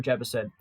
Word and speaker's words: Jebbison: Yes, Daniel Jebbison. For half a second, I thought I got his name wrong.